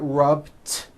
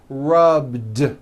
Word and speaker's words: rubbed: at the end rub it's not rubed with an unvoiced T it's rubbed like that here's another example